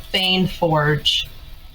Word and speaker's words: Feign Forge: It'll the store will be called Fane Forge. Fane, can you spell it?